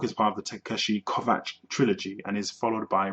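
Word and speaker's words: Kovacs: the teshi kovat trilogy I have a hard time pronouncing that surname because I for a while I was actually calling him teshi kovax which is wrong it's actually teshi kovat so this book is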